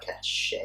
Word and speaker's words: cachet: So I think they're kind of and was that you and actually PlayStation's pronouncing cachet, or were you being like cachet? no cachet. Okay.